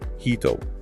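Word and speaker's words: 人: But when she actually sings the line on the track, she pronounces it as Hito, which means person.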